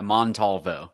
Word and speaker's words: Montalvo: Yeah, Montalvo.